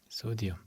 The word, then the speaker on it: 소디움: 소디움. 자, 이 소디움은 나트륨인데 나트륨은 라틴어고 소디움은 영어라서 소디움이라고 읽는다고 했죠.